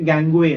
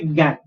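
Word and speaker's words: gangue: इसको actually, if you pronounce this word, you should say gangway, right? Gangway. But that's not how you pronounce it. You only say gang.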